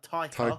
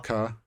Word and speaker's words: Taika: No, Okay, no, it's pronounced similar to tiger, so it's like Taika Taika Watiti.